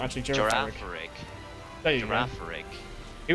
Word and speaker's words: Girafarig: Oh, I'm thinking of Girafarig, but I can't pronounce it, so it's not actually Girafarig. Girafarig.